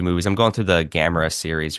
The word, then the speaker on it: Gamera: Or when they pronounce Gamera, I'm like, no. Gamera, yeah.